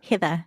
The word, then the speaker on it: Heather: it's very harsh no it's it's heather hither it's so nice okay yeah i i had a co-worker and i would always say hither yeah cause because of you so yeah there's only one way to pronounce it it's with a new zealand accent oh thank you yeah